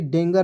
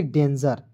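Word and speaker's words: danger: ए एन जीई आर तो इसे पढ़ेंगे डेंगर नहीं पढ़िए इसे पढ़ेंगे डेंजर डी ई एन डन जीई आर को पढ़ेंगे जर डेंजर डेंजर मीस होता है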